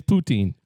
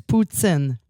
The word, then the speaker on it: poutine: It's poutine. No, it's Put an S in there. It's Poot-tsin. Poot-tsin. See, that was wonderful. He poots it in. Poot-tsin. He poots it in his mouth. But that's how you say it.